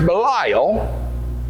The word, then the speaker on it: Belial: that sons of belial it's a hebrew word pronounced belial it looks like a name it means worthless